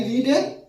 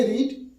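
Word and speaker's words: read: কি হবে ইংরেজিটা বুকবা তিন রপ বানান এক কিন্তু উচ্চারণটা আলাদা প্রোনাউনসিনটা কি আলাদা প্রেজেন্ট হবে রিড পাস্ট হবে রেড আর পাস্ট পার্টিসিপলটা হবে রেড তাহলে রিড রেড রেড বুঝতে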